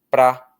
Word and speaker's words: para: Na átona, esse para aí, quase ninguém pronuncia para mais. No fluxo da fala, a gente diz pra.